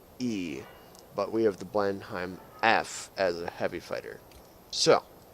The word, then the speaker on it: Blenheim: British heavy fighter the blend I'm f I know you guys pronounce it differently but that's how i pronounce it you're gonna have to live with it rant over so the